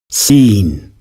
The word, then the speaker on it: scene: of English words then you will probably pronounce these two words seen and seen in different ways when the pronunciation is exactly the same see this example again scene scene that's why you